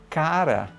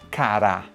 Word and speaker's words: cara: Eu sei que a pronúncia é cara e não cará.